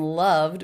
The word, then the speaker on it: loved: So the ED ending in loved would be pronounced as a D sound because the sound before was voiced.